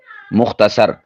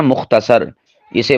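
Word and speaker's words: مختصر: अल हासिल या किस्सा- मुख्तसर। यह जो लफ्ज है ना मुख्तसर इसे बाज यानी ज्यादा ही कोई उर्दू वाला होने का शो करने के लिए मुख्तसिर बोल देते हैं।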